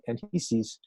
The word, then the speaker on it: Anchises: She also had a great love for Adonis and Anchises, and I think its actually name is pronounced Anchises, and Anchises and Aphrodite actually brought to the world Aeneas, who was one of the great Greek heroes.